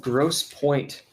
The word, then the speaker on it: Grosse Pointe: Oh, there's a place called Grosse Pointe, and you gotta spell it like the French. It's got E's where there shouldn't be no E's.